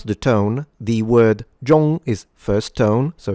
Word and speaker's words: 中: First and foremost, let's remember that the zh creates a j sound in Chinese.